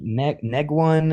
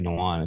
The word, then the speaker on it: Nguyen: Is it Dr. Negwan and Dr. Nguyen?" And I'm like, "It's probably Dr. Nguyen because it's Vietnamese."